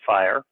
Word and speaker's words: FHIR: healthcare interoperability resources but people pronounce it as fire this is the latest